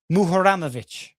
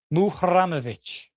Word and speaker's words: Muharemovic: There's a roll of the R. The way he's saying it, and I have it written down phonetically, Tarik Muharemovic. Muharemovic.